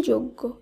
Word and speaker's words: যজ্ঞ: এরপর যে শব্দটি রয়েছে এর শুদ্ধ উচ্চারণ হবে যজ্ঞ, যজ্ঞ নয়, এর শুদ্ধ উচ্চারণ যজ্ঞ।